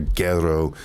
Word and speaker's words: Gero: son of Dr guerro Dr guerro is the proper way to say Dr gero's name like we know that